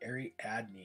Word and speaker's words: Ariadne: consistent I was consistent ariadne okay Airy Adney is how it's pronounced I am so sorry